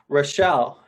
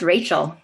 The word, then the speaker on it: Rachel: dark in Alaska it's rashelle hi it's actually pronounced as Rachel Rachel okay yeah Rachel yeah